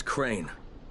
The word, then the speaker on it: Crane: no my name is crane okay crane rhymes with train and brain and sane and green and rain